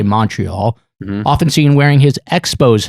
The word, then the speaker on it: Montreal: proud native of montreal he says montreal americans say montreal often seen wearing his